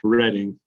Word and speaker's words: Reading: It looks like Reading. It's pronounced Reading. Reading.